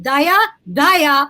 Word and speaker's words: Dhaya: You can pronounce it Daya, or Daya. I don't care.